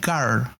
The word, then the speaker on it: girl: Girl se pronuncia con una AI como junta.